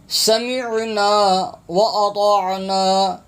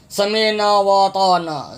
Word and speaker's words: سمعنا وأطعنا: یہاں پر اکثر حضرات تلفظ انتہائی غلط پڑھتے ہیں، عین کی آواز نہیں آتی. سمعنا واطعنا، سمعنا واطعنا. حمزہ خالی پڑھتے ہیں، ہا خالی پڑھتے ہیں. سمعنا واطعنا، تو یہ غلط ہے، یہ تلفظ ٹھیک نہیں ہے.